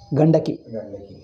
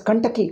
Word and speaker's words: Gandaki: Now, Saligramas, where do you get? Gandaki. And you know what he says? Kantaki Nadi.